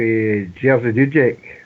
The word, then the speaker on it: Jerzy Dudek: Well, I read an article the day for Jerzy Dudek.